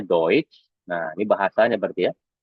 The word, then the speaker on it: Deutsch: Karena tadi kan kalau E bertemu SCH kan dibacakannya Sh. Nah, tapi di sini dia tidak dibaca Sh lagi, tapi jadinya eh Sh ya, hampir mirip Sh juga ya. Tapi Sh gitu ya. Nah, ini dibacanya Deutsch.